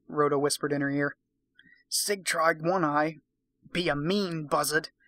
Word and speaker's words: Sigtryg: We're going to pronounce that Sigtryg, because it's spelled Sigtryg. Sigtryg.